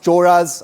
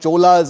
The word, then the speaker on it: Chola: Uh and I know that it's pronounced choras and not cholas as some people continue to pronounce it.